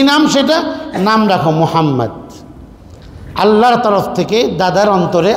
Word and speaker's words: মুহাম্মদ: টান দিচ্ছে, আরেকটা ভুল, মুহাম্মদ পড়ছে না, মুহাম্মদ পড়ছে, নামকে বিকৃত করে পড়ছে, মুহাম্মদ মোহাম্মদ, নবী সাল্লাল্লাহু আলাইহি নাম কি মোহাম্মদ, উচ্চারণ করতে গেলে দুটি ঠোঁট লাগবে, এই নাম আল্লাহ তাআলা